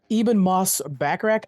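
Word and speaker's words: Ebon Moss-Bachrach: Invisible Woman Joseph Quinn the Human Torch and Ean Moss backrack I I've said his name wrong 100 times but he's from the bear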